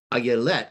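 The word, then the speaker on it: אילת: So the Hebrew pronunciation of deer there is ayelet, ay. So it's got the yod in it, yelet. And so there's a double yod hidden inside of this.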